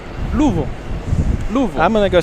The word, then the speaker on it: Louisville: Yeah, it's not that that's two syllables. it. There's somewhere between two and three syllables is a proper way to say it. Louisville. Louisville.